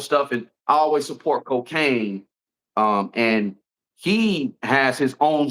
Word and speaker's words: Kokane: And shout out to the homie Cocaine. If y'all know Cocaine, it's spelled Kokane.